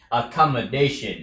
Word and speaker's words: accommodation: xúc quá lớn, mà chỉ cần nói là a comer, come, come, a comer, a comer, come, à, dation, chữ day, day, âm ngang thôi mà, nhưng mà nhấn mạnh vào nó, dation, chứ không là dation, thì không được, accommodation, accommodation.